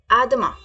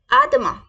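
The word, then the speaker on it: à demain: is Siya tomorrow see tomorrow को कैसे बोलेंगे आदमा कैसे बोलेंगे आदमा कैसे बोलेंगे आदमा आदमा प्लीज रिपीट विद मी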